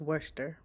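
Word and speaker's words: Worcester: lives in Worchester County I've always pronounced it wrong but it's Worster right outside of Ocean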